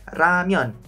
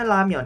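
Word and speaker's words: 라면: kata ini ya ini kalau saya sih bacanya ramion ramion ada banyak orang juga yang bacanya Seperti Saya ramion orang Korea juga ada yang bacanya ramion tapi ada juga yang bacanya lamion ini enggak ada yang salah teman-teman boleh-boleh aja jadi ini bebas ya tapi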